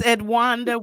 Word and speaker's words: Edwonda: I hope I said it right, Edwanda. Did I say it right? Yes, you did. It's Edwanda.